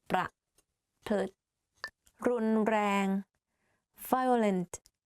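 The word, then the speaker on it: รุนแรง: The only difficult part is you have to click your tongue while you're speaking like r. You can try r, r, r, r, r, r, like that.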